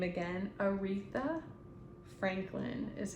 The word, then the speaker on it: Aretha: um let me just say her name again artha Franklin is how you say it so um